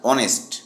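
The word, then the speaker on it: honest: এখানেও অনেস্ট শব্দটির বানানে এইস রয়েছে। কিন্তু উচ্চারিত হচ্ছে না। মানে সাইলেন্ট। এটি উচ্চারিত হয় অনেস্ট।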